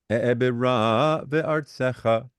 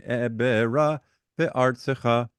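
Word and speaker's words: אעברה בארצך: Munach katon, e'ebera ve'artsecha. Now, the wrong way to do that, accenting-wise, would have been e'ebera ve'artsecha. Do you hear the difference? Yes. E'ebera ve'artsecha. That's the correct accenting.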